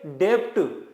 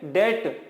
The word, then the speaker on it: debt: इसे पढ़ते हैं बेड डेप्थ बी को भी बोल देते हैं लेकिन इसकी सही प्रनंसीएशन है वो क्या है वो है बेड डेट यानी की 20 के अंदर क्या होता है साइलेंट होता है अभी ये बैक डेट